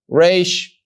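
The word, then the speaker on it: ר: Resh, not having the tail, pronounces the sound ra or ra.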